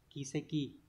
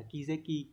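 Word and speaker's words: 軌跡: thì chúng ta có chữ quỹ sẽ đọc là Ki và chữ tích là sei như vậy chúng ta sẽ chọn đáp án đúng là số 2 kieki không phải là keki keki hay là keki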